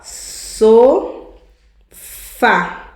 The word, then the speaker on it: sofá: So fa, duas sílabas, uma palavra. A última é acentuada. Ela e é terminada em a oxítona.